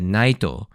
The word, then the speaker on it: naito: And in this case, the word knight, when said in Japanese, it has that Japanese accent, so it's said naito. So the last two syllables, na, I, to, and you get the ito if you take out the first syllable, na.